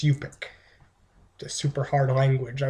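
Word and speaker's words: Yup'ik: holly stanton's play and let's see if i can pronounce it right yet i didn't pronounce it right it's yupik the super hard language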